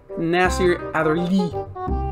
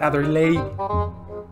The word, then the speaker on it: Nassir Adderley: google translate to see how it's supposed to be said nasir either lee not other lady i know i'm a